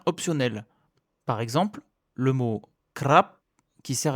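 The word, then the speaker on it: ครับ: Par exemple, le mot crap qui sert à être poli peut aussi se prononcer crap.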